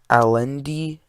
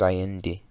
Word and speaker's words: Allende: See, guys, I'm not saying Salvador Allende, it's Allende. So you see, he is trying to do a bunch of socialist reforms, and Richard Nixon didn't really like that.